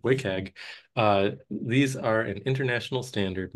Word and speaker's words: WCAG: abbreviation WCAG, pronounced as WCAG. There's a missing vowel, but you just got to trust me, WCAG.